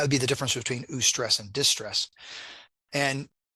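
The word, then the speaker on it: eustress: um the official terminology terminology is ESS versus distress now that's U is spelled EU stress and then distress dis stress so ESS and distress ESS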